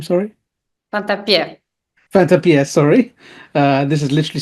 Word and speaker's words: Fantappiè: So, is that how you pronounce your name? Sorry. Fantappie.